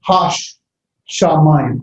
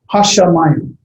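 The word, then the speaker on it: הַשָּׁמַיִם: Hashamayim. I say the shin twice. Hashamayim. You got to listen to here. Hashamayim.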